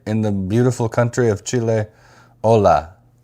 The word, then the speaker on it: Chile: Uh, we have listeners now from Chile or Chile if you want to say it like they say it.